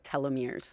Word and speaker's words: telomeres: (Alan) telomeres, we have a lot of questions about telomeres. (Ivelisse) I've been saying it wrong I thought it was telomeres. (Immaculata) Oh no, no, you can say it both ways you.